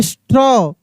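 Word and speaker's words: straw: देखिए यहां पे ज एस टी आर ए डब्ल्यू स्ट्रॉ डब्ल्यू आई टी एच डी आर ए डब्ल्यू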